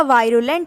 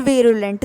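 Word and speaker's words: virulent: फिर है आपका वायरुलेंट या फिर वीरुलेंट, दोनों प्रोनाउंसिएशन करेक्ट है।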